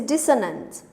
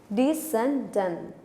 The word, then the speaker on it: descendant: First one is dissonant. Descendant. That is the pronunciation.